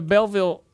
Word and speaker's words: Belleville: went to Belleville Illinois yeah that little so Belleville that's how you say it uh Belleville B